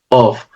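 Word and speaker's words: אוֹב: Este personaje número 3 es o aparece en el texto hebreo de la Biblia como Of. La pronunciación es una O con una V. Of.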